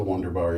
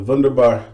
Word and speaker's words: Wunderbar: BBS that's what the wonder bar is for me sorry wunderbar I keep pronouncing it the American Way so the vendor bar is to me two